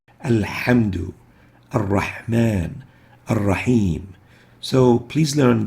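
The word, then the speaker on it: الحمد: the ha, as in alhamdu, where they say alhamdu. And in ar-Rahman ar-Rahim, they would mistakenly say ar-Rahman, ar-Rahim. The proper way to pronounce those is with the ha, not with the ha.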